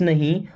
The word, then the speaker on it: know: मीस मैं डोंट मीस नहीं नो यहां पर के साइलेंट आई डोंट नो मैं